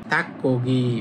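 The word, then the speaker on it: 닭고기: যেমন দেখেন থাক মানে মুরগি আর খগি মানে হচ্ছে মাংস। তাহলে যখন একসাথে উচ্চারণ করবেন তখন হবে থাক্কগি মানে মুরগির মাংস।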